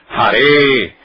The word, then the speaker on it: Hare: Então, como se pronuncia isto? Hare. Tenha ou não o acento, quer dizer, a pessoa que estiver escrevendo, se ela pôs o acento ou se ela não pôs o acento, a pronúncia é sempre Hare.